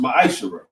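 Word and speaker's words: מעשר: means 10th in Hebrew, and it's pronounced ma'ashara.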